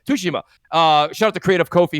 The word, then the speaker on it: Tsushima: Tsushima. Shout out to Creative Kofi who corrected everybody on Crossfire on how to say it properly. So I'm trying to say it properly.